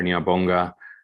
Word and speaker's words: Ngiyabonga: Ngiyabonga, thank you in Zulu.